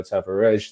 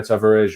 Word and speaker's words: Tavares: pronouncing it, I mean, I've been told time and time again that you don't actually pronounce the R from listening to other pronunciations, so it comes across as Tavares, which is, I don't know, I don't speak Portuguese, but I'm told that it's not really, you don't pronounce the R as a hard R, so we'll get used